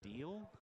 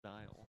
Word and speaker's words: Deal: So, as I believe it's pronounced Deal. Is that correct? Chris Deal, the band director? Or is it Dial? No, it's Deal. It is Deal.